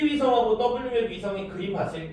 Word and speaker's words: WMAP: 그때의 위성 이름을 코비 위성이라고 읽어요. 그다음에 W맵이라고 읽습니다. Cob는 코비. 그다음에 WMAP는 W맵 위성이라고 읽는데이 두 개의 위성들을 우주로 쏴서 얘네들은 우주 마원경이죠.